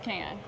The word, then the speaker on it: Cannes: The S is silent.